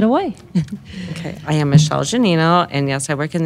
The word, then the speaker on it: Gianino: have very special guest it's Michelle help me pronounce your last name janino janino I will probably say it wrong every single